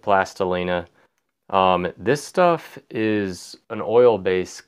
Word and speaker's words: Plastilina: is Roma plastilina that now you may pronounce that different but I pronounce it plastilina this stuff is an